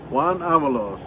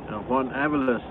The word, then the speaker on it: Juan Avalos: Juan Avalos. Hey, I said it right. I'm not CPAP. Juan Avalos, the way he says it.